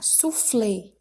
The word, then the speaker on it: soufflé: Letra A, soufflé. Então, a sílaba tônica é flé e ela é uma oxítona, já que é a última sílaba que é tônica.